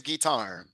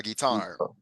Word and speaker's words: guitar: know very good yeah pronunciation is guitar a guitar a guitar uhuh so you you the stress is in the second syllable okay does anybody have